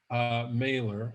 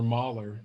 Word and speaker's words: Mahler: And so I love this quote from Gustav Mahler, or Mahler, depending on your pronunciation.